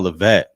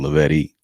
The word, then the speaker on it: Levette: Oh, Levette. I don't know why I was saying Lavetti. That E at the end was throwing me off.